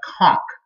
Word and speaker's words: conch: is, it's spelled like the word conch, but pronounced like conch.